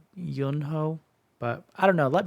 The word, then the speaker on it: Yunho: yunho you know see I've heard people pronounce his names both ways yunho but I think it's more like youo because it's spelled the exact same way as the other youo from TV TVXQ um like their first